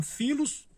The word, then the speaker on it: philos: Pilos, que escreve com pH, né, porém se pronuncia filos.